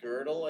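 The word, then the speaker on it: Gödel: It looks like Godel, but it's pronounced Godel, I guess.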